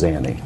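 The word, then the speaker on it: Zanny: Pronunciation, sir, is Xany. No, sir. Xany instead of Zeni to what you're saying.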